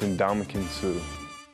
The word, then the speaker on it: Ndamukong Suh: It's Ndamukong Suh. However it's enunciated or articulated, pronounced or expressed, be clear, there's game in the name.